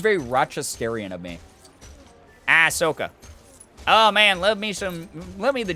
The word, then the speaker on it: Ahsoka: Ahsoka. Yeah, okay, so I'm saying it right. I couldn't remember. I was like, that sounds very Rochesterian of me. Ahsoka.